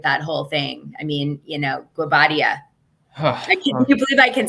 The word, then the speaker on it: Guobadia: I mean, Guobadia. Can you believe I can say his name right? Simon Guobadia.